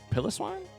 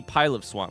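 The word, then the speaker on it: Piloswine: Water was super effective against Pilliswine. Pilot swine. I call him Pilliswine, too. It's got to be pile of swine. Pile swine, right? like it's supposed to be pile of.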